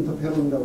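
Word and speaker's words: interferon: 그 다음에 뭐 저도 걷지도 못하고 그런 환자가 있었는데 저한테 이분이 인터피에론 한국말로는 인터페론이라고 그러고 미국식 발음은 인터피에론이라고 하는데 그 한 방에 파이자에서 만드는 주사제인데 한 방에 2,000불짜리예요.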